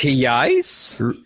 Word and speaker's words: reais: Reais, but you spell it as Reais.